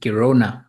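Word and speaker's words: Girona: and that place I don't know how to pronounce it is it kirona if I'm not mistaken Kona yes is between yes it's between Barcelona and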